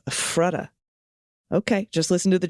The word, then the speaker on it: Ephrata: Ephrata is pronounced Ephrata, with the stress on the FF, Ephrata.